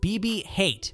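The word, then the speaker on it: BB-H8: of The Last Jedi it was nicknamed BB hate pronounced like hate as in hatred this reflects its character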